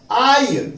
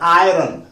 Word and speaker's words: आयरन: उसके बाद हमारे पास और वर्ड है आयन। देख लीजिए आप, आयन हमें पता है आयरन, आयरन नहीं होता, आयन। देख लीजिए प्रोनाउंसिएशन, इसमें जो आर है वो साइलेंट होता है।